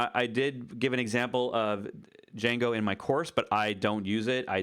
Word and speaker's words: Django: a de Jing go the D is silent Jango autopilot and see if